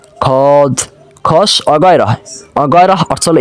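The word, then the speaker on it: خود: এবার খদ, এখানেও কিন্তু দেখুন ওয়াওয়ের উচ্চারণ হয় না।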